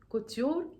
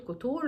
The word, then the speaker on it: Couture: اعمل معكم ريفيو على الهوت كوتيور او الهوت كوتور زي ما بتتنطق يعني سيبكوا من المسميات